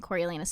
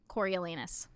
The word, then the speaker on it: Coriolanus: So this also added a lot of scenes between Seneca Crane and Coriolanus Snow, the president. Which What's his first name? Coriolanus.